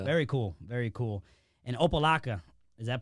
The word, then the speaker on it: Opa-locka: to boxing yeah very cool very cool and opalaca is that pronounced correctly yeah it's a tough one man